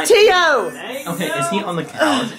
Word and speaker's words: Teo: other you said Teo it's to not te EO when it clearly says Teo on his screen but T it's pronounced to are they in the same apartment I'm realizing simil Tio not D no it's Tio okay is he on